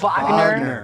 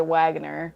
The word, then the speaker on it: Wagner: It's Wagner because it's German. They pronounce the W's as E's. It's Wagner. The Americans say Wagner, so we can say both.